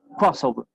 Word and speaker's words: crossover: Entonces, el énfasis lo pongo en la primera sílaba, crossover.